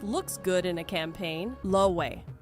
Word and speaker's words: Loewe: Loewe, pronounced lo-a-hay, and fashion people will absolutely clock you on that.